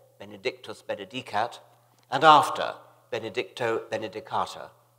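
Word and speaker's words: benedicatur: Benedicat, and after Benedicto Benedicata. I was one of the majority who pronounced this last word, Benedicata. Some of the older, classically trained fellows pronounced it Benedicator, which fascinated me, although I never dared follow them.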